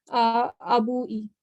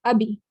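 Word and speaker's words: أبي: But for my, it's not going to be abui. It's just abi.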